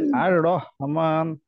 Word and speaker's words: الرحمن: আর রহমান, হ্যাঁ আর গুড। রহমান। আচ্ছা, কারোর কি এই হাতে উচ্চারণে সমস্যা আছে বা কনফিউশন আছে?